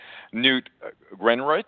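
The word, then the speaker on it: Newt Gingrich: of interesting that uh new greenrich that's the right way to pronounce his name uh you know he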